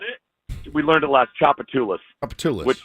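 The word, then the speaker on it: Tchoupitoulas: Chapatulas.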